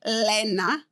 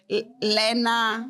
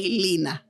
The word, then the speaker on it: Lenna: Because if it's Lenna, like Lena, which is the Swedish spelling, Americans will say Lina.